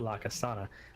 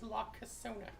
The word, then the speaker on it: La Casona: wanted to eat at La Casana, but I just made breakfast tacos. Also it's pronounced La Casona. What did I say? La Casana. Like a place where you go to get real sweaty.